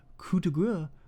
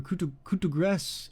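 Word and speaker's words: coup de grâce: Technically, actually, the French pronunciation is more like coup de grace or coup de grace. It's like more like a grass sound, which it sounds really fucking silly. If you ever hear them say it, it sounds like cut the grass.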